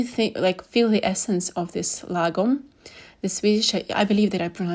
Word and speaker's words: lagom: And you really feel the essence of this lagom, the Swedish. I believe that I pronounced it correctly.